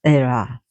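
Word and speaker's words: Hera: our hair here but they don't pronounce the H in Greek so it's era and the goddess said to Vetis that she brought the agg the the a the aggronauts.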